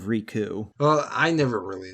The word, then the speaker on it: Riku: he say I don't I think he said Rico like Rico instead of rku well I never really